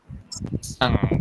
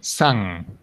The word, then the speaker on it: sang: You don't have to say sang. No, that is not correct. It is a little bit different.